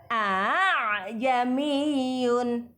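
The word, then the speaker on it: أأعجمي: lanjutkan yang ketiga Hai Aa jami'un dibaca ah jami'un tashil meringankan bunyi Hamzah yang kedua Aa aslinya tulisannya Aa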